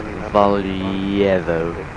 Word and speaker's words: Valjevo: If Gav understood Slavic accents, he'd know that the J is pronounced as Y. So it's Valjevo, not Valjevo, but anyway.